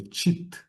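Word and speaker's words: cit: Esse T aqui ele poderia ficar em letra minúscula, é Tit, tá? Ele botou D aqui por uma questão de de junção aqui de sílabas, mas é tit sat titananda.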